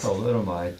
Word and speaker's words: thalidomide: One arm was Thalidomide. thalidomide.